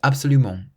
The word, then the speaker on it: absolument: So we stress the ment at the end, absoluMENT. So it's not absoluMENT or absoluMENT, it's absoluMENT.